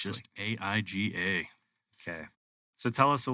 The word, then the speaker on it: AIGA: It's just AIGA. Okay. So tell us a little bit about this AIGA, what it does, what it is, why it is. So, AIGA, pronounced like that, originally stood for the American Institute